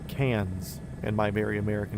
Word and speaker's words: Cairns: Well, you say you pronounce it cans like soda can, but is it like the pure American nasely can or does it have like that Australian twang to it?